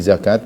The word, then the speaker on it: zakat: begitu lebih tentang fiqih zakat maka cara membacanya panjang namun yang perlu kita